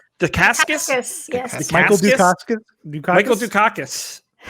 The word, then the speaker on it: Dacascos: Dacascos. Dacascos?